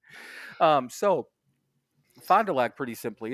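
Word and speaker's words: Fond du Lac: a c so three separate words and it's pronounced and just said Fondulac but for for years every once in a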